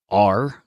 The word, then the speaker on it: Zencastr: There are services out there that record over the internet for you, like Zencastr, Zencastr. Notice we're allergic to the E in that syllable again.